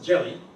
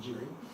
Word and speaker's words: Jerry: Jelly, because they pronounce R's as L's and L's as R's, so I'm called Mr. Jelly, instead of Jerry.